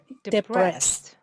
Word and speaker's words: depressed: depressed yes depressed ni depressed yes stress is on rest yes go on uh